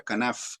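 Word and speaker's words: kanaf: es se le dice se pronuncia canaf que es la palabra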